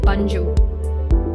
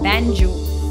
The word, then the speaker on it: banjo: circular body it is often incorrectly frowned as bunju please remember be a n will be pronounced as pan and the correct pronunciation of the word will be banjo kazoo is a small musical instrument it consists